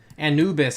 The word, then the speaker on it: Anubis: fun inspired by LM Anubis uh and and Anubis is how you pronounce his name Andrew this LM Anubis people